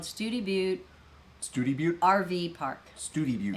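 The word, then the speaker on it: Study Butte: I think it's study butt. Well, no, Study Butt is what you say if you're not from Texas. Oh. Studi Butte. Yeah, it's pronounced. It is spelled Study Butt, but it's Studi Butte.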